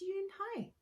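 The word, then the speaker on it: Unhei: It's spelled U-N-H-E. It's pronounced Yoonhae.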